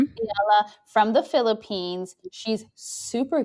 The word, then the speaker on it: Eala: Um, I don't know how to say her name, Rashina, but Alexandra, you said it's Eala? Iala. Mm-hmm. Eala from the Philippines.